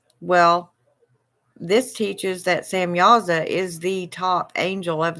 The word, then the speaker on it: Samyaza: spelled s-a-m -y-a-z-a and it is also spelled like sham yaza but just go with Samuels that it'll get you there it's really interesting I